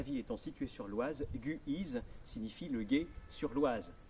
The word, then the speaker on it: Guise: crise car la vie étant situés sur l'oise guy is signifie le guet sur l'oise mais rappelez vous